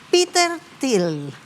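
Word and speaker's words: Peter Thiel: Oye, Mirna, vino Peter Til, así se pronuncia, ¿no?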